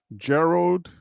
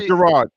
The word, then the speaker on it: Gerald: Gerald or J Gerard it's Gerald right Gerald g g e r a l d is Gerald right yes that's how I would pronounce it Gerald okay so Gerald my bad Gerald Gerald d Gerald D said like Gerald Ford okay okay Gerald for